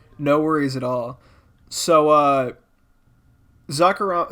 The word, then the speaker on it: Zacarama: He pronounces it Zacarama, like he rolls the R.